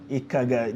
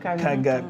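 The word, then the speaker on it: Nkaga: She said it's Ikaga. The N is silent. Kaga.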